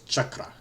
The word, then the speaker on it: chakra: So, it's chakra. And if you're from India, you roll the R, so it's chakra.